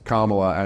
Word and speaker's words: Kamala: wrestler in the 9s how was it supposed to be pronounced I can't even hear the maybe that's the inner racist in me where I'm like I can't even hear the difference they go they go they go it's actually pronounced Kamala and Rob's like I'm